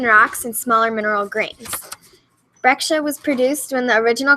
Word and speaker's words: breccia: And it's spelled Breccia, but pronounced breccia.